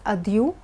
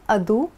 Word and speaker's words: adieu: Now this word is pronounced as adieu or adu, both are correct.